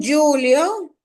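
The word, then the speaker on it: joule: Un julio está representado con la letra J. Alguien va a decir, "¿Y por qué le ha puesto la palabra houle?" Hole es en inglés se pronuncia Jul.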